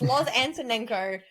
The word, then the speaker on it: Loz Antonenko: in my name and a lot of people don't know how to say my name but it's Lo aneno if you read it and you say it you'll get it right if you overthink it you're gonna stuff it up right um but if